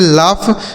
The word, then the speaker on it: laugh: घ होता है, लेकिन यहाँ GH का उच्चारण फा हो जाएगा। ठीक है, इसे पढ़ेंगे लाफ, मतलब होता है हंसना। लाफ मतलब हंसना होता है।